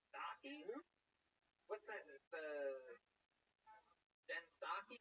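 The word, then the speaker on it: Psaki: The Jen Stocky? Is that how you say it? You don't say the P at all?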